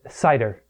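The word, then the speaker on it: seiðr: I said Seidhr. Seidhr. Okay. Seidhr. So Seidhr, it's SEIDHR. Yes. It's actually Seidhr is Old Norse.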